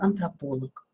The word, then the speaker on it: антрополог: и варфоэпии но аналог а называющие лиц по роду занятий имеют ударение на средней части слова физиолог антрополог приставочные существительные чаще имеют